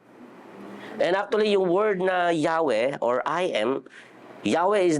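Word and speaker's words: Yahweh: it is the in that is actually that the right pronunciation of yahwe inhale exhale Yah that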